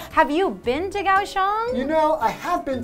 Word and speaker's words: Kaohsiung: If it's called Kaohsiung, why is it spelled with like K and H-S-I-U? Like, it's such a weird... Okay, that's Kaohsiung. It's Kaohsiung, that's right. The spelling is so weird sometimes of Chinese into English.